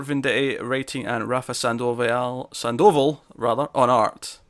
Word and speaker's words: Sandoval: writing and rafa sandoval sandoval rather on art i put an extra syllable in there for some reason that didn't sound right no i don't know